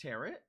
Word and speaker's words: tarot: I mean, so theoretically, you probably could, because it's tarot. Oh, by the way, it is tarot. It's not tarot. Tarot. Tarot. Tarot. The T is silent.